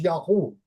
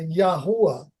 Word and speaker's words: Yahu: the Islamic ultex um it is generally recognized that it is yahu that is yeah the yahu is the or H is the the correct pronunciation of the tetr this is before any